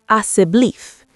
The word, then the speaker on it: asseblief: In Afrikaans, please is asseblief." She pronounced it slowly. Asseblief. Asseblief, Elias practiced.